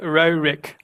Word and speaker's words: Roerich: Nicholas Roerich is. There you go. Better. as it's written.